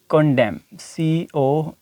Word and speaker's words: condemn: अब next word जो है हमारे पास कंडेम, CONDEMN। अब देखें यहाँ पर भी एन से पहले एम मौजूद है तो ये वर्ड यहाँ पे साइलेंट हो जाएगा।